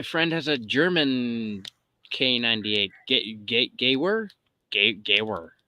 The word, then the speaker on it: Gewehr: Gawer? Gawer. How do you pronounce that? It's a Gewehr K98. Gewehr.